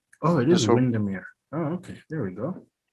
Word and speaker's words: Windermere: But it is pronounced out here, Windmere. Okay, but spelled the same.